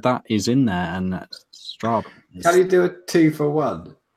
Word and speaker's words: Strabane: Because again, I do have a book in the shops, How to Pronounce Everything. It's available in all good bookshops, but that is in there, and Strabane.